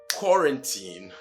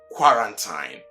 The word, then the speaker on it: quarantine: You see, just like most words beginning with QUA, it is not qua, but ko. Then the RAN is run, and not how you pronounce it.